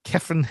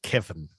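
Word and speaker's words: Cefn: that's c-e-f-n h-e-n-d-r-e kefin farm in 1949. uh i think it's pronounced kevin like kevin so he bought this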